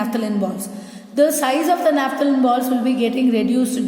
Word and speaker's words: naphthalene: You cannot simply say naphthalene. The spelling is different. NAP, this H is there, H is silent.